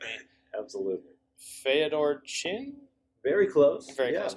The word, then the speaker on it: Feodor: Feodor Chin? Very close. Very close. Yeah, okay. Feodor Chin.